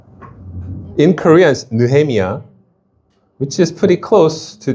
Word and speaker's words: Nehemiah: Nuhemia, which is pretty close to the actual word, but you know how English is. I'll give you a hint. The H is silent.